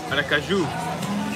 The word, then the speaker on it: Aracaju: Aracaju.